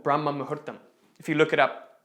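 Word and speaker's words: Brahma muhurta: that in yoga there is this concept called brahma mahuttam if you look it up it's spelled b b-r-a-h-m-a-m-a-h-u-r-t-a-m brahma mahertam what it literally means is that moment during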